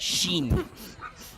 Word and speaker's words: Sin: In the OCG, the name of this archetype is Sin. Pronounced Shin. Shin.